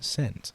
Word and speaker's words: scent: The S and C come together, which make a softer S sound.